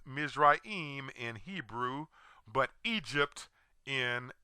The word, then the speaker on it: Mizraim: of Ham's second born son whose name is pronounced misraim in Hebrew but Egypt in English this is